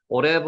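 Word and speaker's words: עורב: 자 요게 글자 지난번에 제가 잘못 발음하고 기록했다고 다시 보내 드린 겁니다 오래인데 다른 거를 복사를 뜨다 보니까 오버라고 보내 드렸습니다 오레브 정정합니다 오레가 까마귀 까마귀 오레브 한번 해 보세요 창세기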